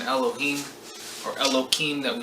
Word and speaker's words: Elohim: So these are the 7 artisans, or the 7 Elohim, or Elokime, that we said we were going to pronounce it as, because now we're using it together as a spiritual group.